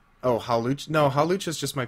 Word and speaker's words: Hawlucha: I forgot his how to pronounce his name. Oh, Hawlucha.